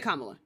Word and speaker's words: Kamala: It's not Miss Harris. It's Kamla Harris. You can say you can say Kamla.